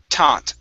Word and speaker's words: taught: Okay, so with this word here, make sure to use a normal T instead of thought. Okay, this is taught those things.